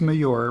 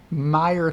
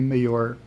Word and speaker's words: Mayor: said, yeah, you're right, it is Mayor. My family calls me Mayor. And it's Tacker. That's what it is. Tacker is how they pronounce the last name. So don't believe him when he pronounces his name Meyer Thacker. It's actually Mayor Tacker.